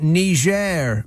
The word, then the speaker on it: Niger: It's pronounced Niger, Mr.